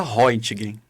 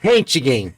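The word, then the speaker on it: Röntgen: onde eu sei o nome do cidadão se pronuncia hgin eu acho que é rentgen e você Vel hgen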